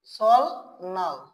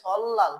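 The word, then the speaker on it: 설날: তাহলে এমনিতে যে উচ্চারণ করি সেটা উচ্চারণ হয় সল নাল, কিন্তু এটার উচ্চারণের স্থান সল নাল না হয়ে কি হয়ে যাবে? সল, সরি, তাহলে কি উচ্চারণ হয়ে যাবে? সল লাল।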